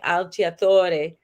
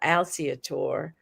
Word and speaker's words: Alciatore: italian names uh but they're pronounced in a french way so instead of being alchiatore you got alciatore which is i like how